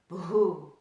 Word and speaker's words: Bhūḥ: a B and H that BH is one letter in the Sanskrit alphabet and it's pronounced with a little bit of air expulsion after the buh sound so it's like bah